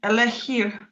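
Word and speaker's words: elixir: А тут куди наголос? Так що на перший склад? Ні, на перший ні. Або останній, або передостанні. Останні або передостанні. Елехір.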